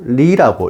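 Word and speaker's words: 梨: 배는 중국어로 리라고 읽으며 결별하다 또는 이별하다는 뜻의 리와 같은 발음의 해음 현상으로 배는 불길하다고 하여 손님상에 내놓는 것을 금기시하는 것입니다.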